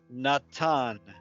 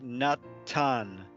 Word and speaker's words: Natan: So if you think of English names like Nathan, that is the word Natan in Hebrew. The th is actually a tav, and it would be Natan in Hebrew.